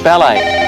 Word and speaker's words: ballet: Yes, which consonant is silent in the word ballet? Phil. T.